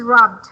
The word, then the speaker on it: rubbed: But again, this is rubbed. Just one syllable.